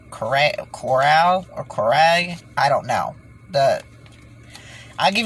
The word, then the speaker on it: Correia: is the way it would look if you pronounced it Korea, but it's Cora. I don't even want to try to say it. It was like Coral, or Coray.